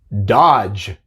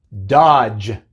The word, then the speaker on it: dodge: Así que vemos que en estas palabras tenemos la D seguida por la G, pero solamente hace el sonido de la G. La D es muda.